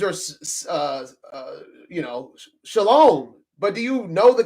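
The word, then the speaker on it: שָׁלוֹם: Whatever the way things are uh uh you know, shalom. But do you know the characters that make the word shalom? And it should actually sound more like shalom.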